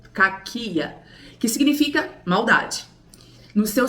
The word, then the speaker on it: κακία: A origem da palavra no grego é com k. K cáquia ou caquia. Vai, a gente tem que ver a a pronúncia correta, que fala assim: "O termo maldade deriva do grego caquia, que significa maldade.